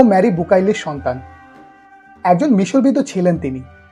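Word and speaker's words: Bucaille: জড়িত তিনি doctor Morris বুকাইলি একজন ফরাসি ভদ্রলোক যার জন্ম 1920 সালে আর মৃত্যু 1998 সালে আসল উচ্চারণ বুকাই তিনি ছিলেন একজন মেডিকেল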